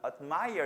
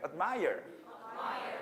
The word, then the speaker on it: admire: 이때 admire에서 드 하면 좀 드 발음이 나오면 되게 촌스러워요. 그러니까 혀 끝을 윗니빨 뒤에다 살짝 대고 M 발음 넘어가 admire 이렇게 그죠? 해볼까요, 시작? 자, 혀 끝을 살짝 윗니빨 뒤에 대봐. 그 다음에 admire. D 발음이 안 나왔지, 그렇지?